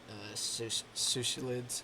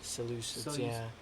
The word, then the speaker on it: Seleucids: And parts of Nabatea, the only part of Navatia that isn't theirs is the Sushilids. Dang it, that's not how you pronounce Seleucids. Seleucids.